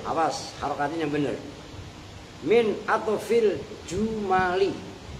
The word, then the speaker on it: jumal: Wa yakunu dan ada apa wal fi'lu yu'rafu biqad min atfil, awas harokatnya benar, min atfil jumali. Kalau kalian bacanya jamal maknanya unta, itu jumal, jamaknya jumlah.